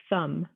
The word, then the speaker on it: thumb: lamb comb crumbs plumber doubtful det subtle and thumb all of these that b is in different